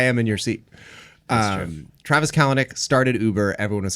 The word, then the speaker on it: Kalanick: Oh, Kalanick. Is that how you say it? Yeah.